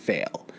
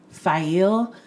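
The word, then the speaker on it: Faile: because I know that we're supposed to pronounce it file but that's never gonna happen like just accept it we pronounce things wrong as it's sort of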